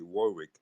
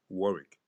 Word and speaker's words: Warwick: Deon Warick and and he was making fun of how Americans say Warwick but is actually Deon Warick anyway so so he was